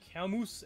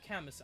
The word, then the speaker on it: Camus: So, if you're new, be aware that Camus and Xander Grand Hero are somewhere in the horizon.